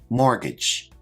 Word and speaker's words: mortgage: Now this word has a silent T which I've highlighted in the word. Let's check our pronunciation. Mortgage.